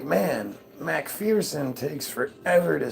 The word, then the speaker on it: McPherson: Americans abbreviated McPherson to McPherson. However, we still pronounced it Macpherson.